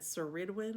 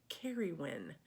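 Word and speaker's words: Ceridwen: for this it's spelled c-e-r-i-d-w-e-n and i was pronouncing it saridwin or something no it's carried kerry when so um anyway um thanks for letting me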